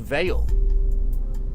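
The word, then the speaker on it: Vall: It's pronounced it's pronounced Veil. Is it Veil? It's pronounced Veil. Okay. You can't even English. What can you do? Hey, if it's got one L, it's usually like a soft consonant sound. When it's got two L's, it's different. It could be pronounced Val or Vol if you like. It's not Val.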